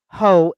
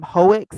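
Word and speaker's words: Heaux: here it is nosy ho h-e-a-u-x and twitch updates so if you ever watch nosy you probably pronounce her name hoex but it's not h-e-a-u-x is french for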